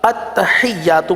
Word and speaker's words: التحیات: دوہرا رہے ہیں التحیات، لیکن جب نماز میں پڑھیں گے تو پھر عادت کی وجہ سے التحیات التحیات التحیات نہیں پڑھنا، التحیات پڑھنا ہے۔ آئیے اس کلمے کی